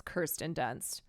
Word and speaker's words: Kirsten Dunst: Kirsten Dunst, I'm going to try. I'm going to always try to remember that it's Kirsten Dunst.